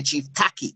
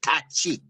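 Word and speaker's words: Tacky: One of the people who we've been saying should be a national hero, Chief Tachi, or Jamaicans say Chief Taki, right? But the Ghanaian pronunciation is Tachi.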